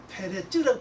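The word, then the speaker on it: פרץ: 그러니까 이걸 보면은 대례도 그렇고 여기도 보면은 분명히 처음엔 예, 우리 성에서는 베레스지만 원어로 보면은 파라쯔잖아요. 파라쯔. 예. 파라쯔인데 나중에 이제 베레스를 이제 바뀌죠. 원래 뜻 부르면 페레스입니다. 페레츠라고 발음해야 돼.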